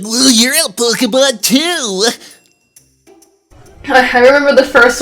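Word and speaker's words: Pokémon: this project here is I told people to specifically say Pokemon whenever it comes up, because that's the way you're supposed to say it. Yeah, because the accent on the E.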